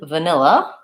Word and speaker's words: vanilla: Again, the first vowel there is your vowel schwa, the sound. So it sounds like va. N, this is the I vowel, and again, the schwa at the end, vanilla. And I have second syllable stress, so n is long, and these other two with reduced schwa sounds are short, vanilla.